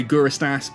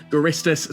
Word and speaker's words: Guristas: ways so who knows i like to say guru estas but i often find myself saying garistus so if i kind